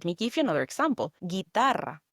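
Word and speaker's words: guitarra: Guitar. Guitar. Guitar. The U again is silent. This is a spell like G U I T A R R A.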